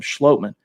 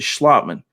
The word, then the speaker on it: Schlottman: was austin schlottman and it is schlottman we've been mispronouncing it on this show calling him schlotman it's actually schlotman but nevertheless he was